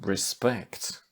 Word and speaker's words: respect: There are exceptions again, for example, respect, which is the same. Stressed on the second syllable, if it's a noun or a verb.